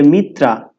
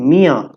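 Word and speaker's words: ময়ূর: সরায়াতে অজগর এইভাবে তো এটাকে অনেকে বলে মিত্রা আবার অনেকে কিছুই বলে না জানেই না যে এটাকে কিভাবে উচ্চারণ করতে হয় আসলে এটা হবে মিয়া তো শুরুতে যেহেতু চন্দ্রবিন্দু আছে এইজন্য একটু নাক দিয়ে বাতাস বের করতে হবে আমি আবার বলছি মিয়া যাই হোক হয়তোবা চন্দ্রবিন্দু উচ্চারণটা আমারও ঠিক হয়নি কিন্তু মিত্রা বললে এটা মারাত্মক ভুল এরপরে যেটা আছে এটা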